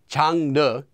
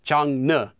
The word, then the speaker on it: 장르: But there is an exception to this, and that's the English word genre, which is 장르 in Korean and not 장르.